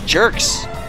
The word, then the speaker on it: Gerx: Is the G pronounced like giraffe or grand? Because if it's like giraffe, this guy's name is Gerx.